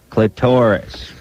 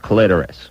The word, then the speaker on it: clitoris: And she said, you and Drew say clitoris. And I'm telling you, it is pronounced clitoris.